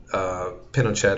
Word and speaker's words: Pinochet: What happens is that the picture you just saw of Pinochet is how it's said in Chile but in international community for some reason he's called Pinoche(t) so I'll just go with Pinoche(t).